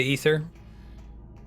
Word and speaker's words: Aether: on your own ship you say Aether oh it's spelled the same as like the Lum luminiferous ether how you pronounce it right Andrea you say ether it has an A in it great oh I think